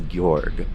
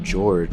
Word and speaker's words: Georg: pronounced gorg instead of George with two floppy G's instead of swollen G's like my frigid father